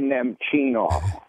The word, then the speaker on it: Nemchinov: The toughest name to pronounce all time. Sergei Nemchinov.